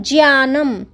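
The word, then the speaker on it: ज्ञानम्: मिलके ज्ञा ज्ञानम तो ज्ञान ज्ञान हम बोल देते लेकिन सही उच्चारण इसका क्या होता है ज्ञानम क्योंकि ज मिला हुआ जैसे त्र बोलते त और र का उच्चारण आता है वैसे प्रकार इसमें भी ज और य का उच्चारण आना चाहिए तो क्या हो जाएगा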